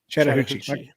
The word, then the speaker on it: Chattahoochee: It says, in November 1985, a hunter discovered a dead 175-pound black bear in, can you pronounce it? You've been saying it all. Chattahoochee. Like the Alan Jackson song.